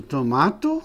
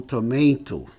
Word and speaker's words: tomato: Você pode pronunciar com Z ou com S. Vase ou vase. Aqui é o famoso tomato ou tomato, né?